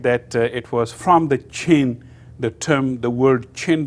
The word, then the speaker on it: Qin: a review about the Qin Dynasty and the Qin Dynasty this as I told you this Q is pronounced as ch so the Qin state